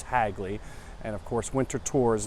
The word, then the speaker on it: Hagley: with Hagley as well I used to say hey Glee all the time as a kid but it is pronounced Hagley and of course Winterthur is not far away